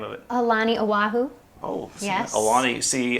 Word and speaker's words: Aulani: Aulani, Oahu.